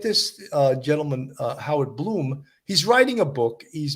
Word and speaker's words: Blum: his name is Howard Bloom but it's spelled Blum b-l-u-m but he pronounces it Bloom he wrote for Vanity